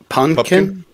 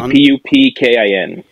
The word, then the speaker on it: Pupkin: Did I say it right? Pumpkin. It was like Pupkin.